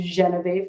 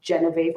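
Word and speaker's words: Geneviève: name for that because i would want the celtic pronunciation but with the french jay so it'd be geneve not genevieve or jean-viv yeah one of um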